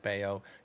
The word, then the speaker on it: Bello: but it is Oh, it's pronounced Bello. Bayo for those that don't Yeah.